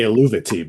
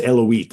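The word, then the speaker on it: Eluveitie: is that how you pronounce it? Eloise? I used to say Eluvati, but That's how Keela that's tells me it's Eloise.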